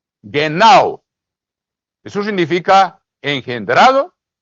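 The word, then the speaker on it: γεννάω: nacido la palabra ahí en griego es geno se escribe g g e n n a o geno Eso significa engendrado y también significa nacido los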